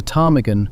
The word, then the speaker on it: ptarmigan: And a ptarmigan, a bird from the Scottish Highlands, was given a P in the 1680s. Its name is Gaelic. There is no Greek anywhere in its family. Somebody decided it looked like a word that ought to begin with a P, and so it does.